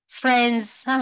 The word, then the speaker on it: friends: Nó có s nhưng mà nó phát âm nó là âm z ở cuối nha, cái từ friends.